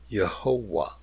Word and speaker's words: Jehovah: with vowel points and saw that it would be pronounced yahovah and that went into their translations of the scripture so the word Jehovah was born now notice that was not intended to be a new word nor was it supposed to be pronounced as written it was only a